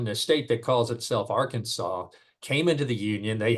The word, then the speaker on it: Arkansas: Well, I'm sure he recognizes that when you look at the word, that it's Arkansas would be the natural pronunciation. The problem here is when the state that calls itself Arkansas came into the Union, they had two senators,